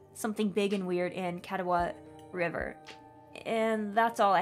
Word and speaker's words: Catawba: Oh yeah, the Catawba River Runner.